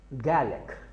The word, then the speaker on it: garlic: हैं, गार्लिक, GARLIC, गार्लिक, जबकि इसको अंग्रेज़ जो हैं वो बोलते हैं गैलिक, गैलिक, यानी लफ्ज़ जो आप इसको बोल रहे हैं वो है गैलिक।